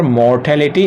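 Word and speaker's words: mortality: अब दूसरा हम देख रहे हैं यहाँ पर मोर्टेलिटी, एक ही वर्ड है लेकिन एक ही वर्ड में 2 सिलेबल्स यूज हुए हैं, यानी 2 उच्चारण खंड हैं।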